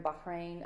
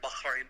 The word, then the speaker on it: Bahrain: I say it like an American. It's hard for me to put that hard H in there. Bahrain.